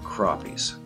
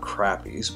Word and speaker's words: crappies: here today i'm going to be talking about crappies now you notice i pronounced it the right way this time it's not crappies but although that's the way we say it